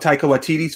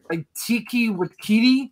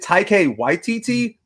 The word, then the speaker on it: Taika Waititi: The answer, of course, was the one of Taika Waititi's films. Unfortunately, he answered. Oh, Taika. Yeah, Taika Waititi. He pronounces it like not even close. I remember that. Like it's like Tiki Wakiti.